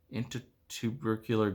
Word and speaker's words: intertubercular: saying it wrong saying it wrong in inter intertubercular groove intertubercular groove Wow you guys it's an